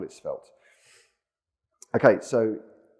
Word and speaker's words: Svelte: from DuckDuckGo um so apparently the origin of the word was uh French so much like white